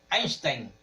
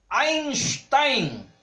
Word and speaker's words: Einstein: Einstein, pues lo pronunciamos como si fuera norteamericano, pero es Albert Einstein.